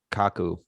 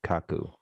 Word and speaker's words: Kaku: yeah michio and then k-a-k-k-a-k-u which i assume is kaku if if you ever